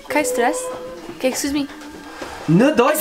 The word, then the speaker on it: kein Stress: Kein Stress. Kein Stress.